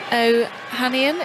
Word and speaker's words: Ohanian: Alexis Ohanian, is that how you say his name?